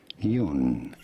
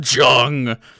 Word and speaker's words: Jung: swiss psychiatrist and psychoanalyst how do you say his name carl jung he should have made me google carl jung dude i can't believe you said hard j there dude be yourself